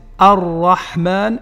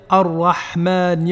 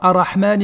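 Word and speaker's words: الرحمن: Et vous savez donc quand est-ce qu'on prononce le lam et que si on ne le prononce pas, on doit doubler la lettre qui le suit.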